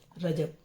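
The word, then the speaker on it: رجب: होता है तो ख्वाजा का महीना भी मान रजब बोला जाता है ख्वाजा का महीना रजब रजब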